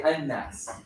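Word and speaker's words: الناس: So the lam is not there, even though in Arabic the Al is there, the people, but when you're pronouncing it, you're combining those.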